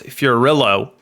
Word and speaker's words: Fiorillo: It's Fiorillo, rhymes with pillow.